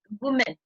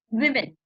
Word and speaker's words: women: So the correct pronunciation for this word is not woman.